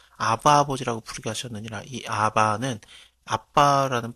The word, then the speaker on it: 아바: 마음의 가운데 보내사 아바 아버지라고 부르게 하셨느니라이 아바는 아빠라는 발음이라고 생각하면 될 거 같습니다 그러므로 네가 이후로는 종이